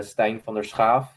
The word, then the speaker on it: Stijn: me um the so the Dutch way to pronounce it is Stein so uh of course